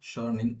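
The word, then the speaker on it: Schöningen: Uh, that's how it is pronounced, Schörning, Germany, where wooden spear that date back to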